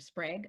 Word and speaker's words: Sprague: So, welcome back to Epic Begins with One Step Forward with the amazing, the one and only Sprague. Rhymes with egg, that you know how to pronounce it, and so do I.